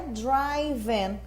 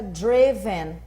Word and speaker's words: driven: No presente, no particípio aqui, ó, na terceira coluninha, como no presente a gente fala drive, todo mundo acha que é driven, mas na verdade não. Aqui fica driven.